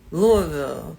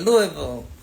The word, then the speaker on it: Louisville: Louisville. That's where he was from. He used to try to teach me how to say it. Louisville. No, not Louisville. He said that's wrong. Louisville, Kentucky.